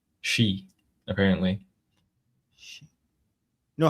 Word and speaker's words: Xi: G is pronounced she. Isn't it? I think she's she?